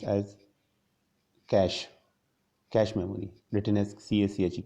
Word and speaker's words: cache: Cache memory, actually it is pronounced as cache memory, written as cache, cache.